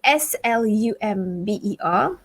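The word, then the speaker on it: selamba: it the english way s-l-u-m-b-e-r the malaysian way or is it the malay way s-e-l-a-m-b-a slumber slumber even the pronunciation is slightly different so when we say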